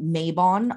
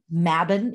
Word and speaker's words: Mabon: about the name of this holiday mavin it's pronounced here in america mabon a lot um mabin is the correct pronunciation and what we are